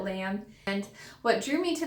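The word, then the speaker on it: L.A.M.B.: the brand Lamb, but it's spelled like L period A period M period B period. So I think you just call it Lamb.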